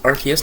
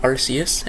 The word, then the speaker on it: Arceus: Uh, Archus is pronounced Archus, not Arus.